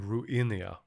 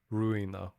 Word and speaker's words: Ruina: library of ru ruina I keep saying ruinia it's ruina and uh yeah after